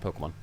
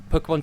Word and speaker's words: Pokémon: of the Warmness Pokémon Pokémon and Pokémon not Pokemon honestly like in terms